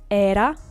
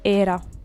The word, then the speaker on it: era: In Spanish, all the vowels are closed, so we don't have the possibility to say era. We have to say era.